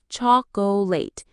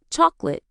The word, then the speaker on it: chocolate: Many learners say chocolate with 3 full syllables, but we usually say chocolate. Exactly. I bought some chocolate for you. Not chocolate like a robot.